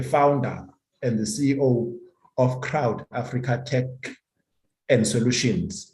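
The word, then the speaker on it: Ckrowt: africa tech and solutions so crowd spells as c-k-r-o-w-t and i think this k is actually fusing his letter that begins his name coyote right so um yeah crowd pronounces as cr owd is a video monetization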